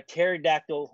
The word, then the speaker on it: pterodactyl: can't you hear a pterodactyl urinate I don't know why because the p is silent come on you just